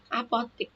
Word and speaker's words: apotek: Apotek, bukan apotik, yang betul E, apotek. Nah, tapi bacanya apotik. Kita harus beli obat di apotik. Tulisannya apotek, tapi bacanya apotik ya nih.